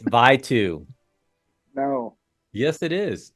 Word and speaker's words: Vitou: It's Vitou. No. Yes, it is. It's spelled Vitou. Hit you, Vitou.